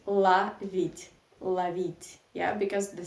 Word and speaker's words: ловить: so we write law read but we say la vid yeah because the stress isn't the last syllable e yeah love it okay and this